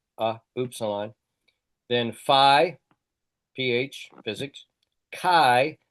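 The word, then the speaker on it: chi: Then fi physics kai a hard ch like in chaos or lock.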